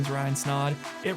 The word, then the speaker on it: Snaadt: rhymes with odd podcast my name is Ryan snod it Rhymes a lot and we'll see in the